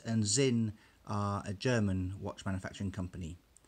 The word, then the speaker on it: Sinn: 3 5 6 and Zin a German watch manufacturing company I would have pronounced it sin but I'm reliably informed in German it's in now this is not